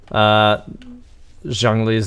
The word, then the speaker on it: Zhongli: I believe Zhongli's name is actually more appropriately said as Zhongli, like with like a harder symbol, or not a symbol, but a harder syllable at the beginning.